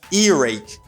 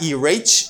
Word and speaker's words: earache: ear you say i have a ear rake earache earache ear ache earache not erach or irek no you do not say that